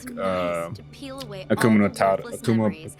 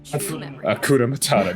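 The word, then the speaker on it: Hakuna Matata: Like, of course, you know, I as usual, I love like Akuma Matata. Akuna Matata.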